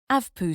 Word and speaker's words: AVPU: in a lockable cabinet avpu score pronounced avpoo score a simple way to